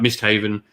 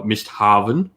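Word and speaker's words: Misthavn: because we've chatted about missed haven uh missed harvan um as some might call it um i say miss haven now because someone pointed out in the comments i was pronouncing it wrong so now i'm going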